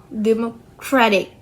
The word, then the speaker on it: democratic: The their base word is democracy but the stress shifts to rah democratic.